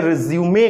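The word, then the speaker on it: résumé: इस वर्ड को बोलने के समय रिज्यूमे कहा जाता है। हालांकि स्पेलिंग रिज्यूम की तरह ही होती है, बस यहां पर ये जो 2 मार्क हैं ये लगा दिए जाते हैं।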